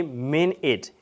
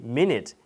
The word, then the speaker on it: minute: You shouldn't say min it. You should say minute.